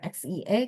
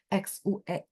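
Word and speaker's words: 血: Kalau darah fisik yang benar-benar kelihatan itu bacanya xie ya. Terus apa? Berdarah kan kelihatan fisiknya. Tapi kalau keringat darah kan bukan darah beneran. Jerih payah maksudnya. Ini jerih payah ya. Xue bacanya. Terus saya kasih contoh yang lain lagi ya.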